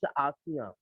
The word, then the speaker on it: ASEAN: Sometime don't pronounce as Asia, Asia, and but it's ASEAN.